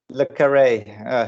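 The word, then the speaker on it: John le Carré: authors, you might have, and it's actually John Le Carre. John, how do you pronounce? That's right. Yeah. Is it Le Carre or Le Carre? Le Carre.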